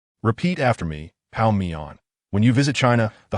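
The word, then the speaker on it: 泡面: Westbrook inquired, having not clearly understood Lee Sunlin's Chinese pronunciation. Repeat after me, pao mian.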